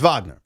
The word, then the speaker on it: Wagner: I love that you still go Vagner. I've totally Americanized. No, it's Vagner. Orlando. That's how you say his name.